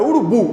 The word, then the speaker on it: urubu: Vamos dividir, ó. Urubu. Urubu. É urubu, não é isso? Não é urubu? O forte é o bu. É urubu.